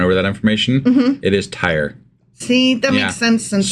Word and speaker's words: Tyre: while you're going over that information it is Tire see that makes sense since so I apologize